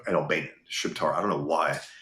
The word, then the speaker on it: Shqiptar: Shiptar. I don't know why it's Albanian, but they call it Shiptar.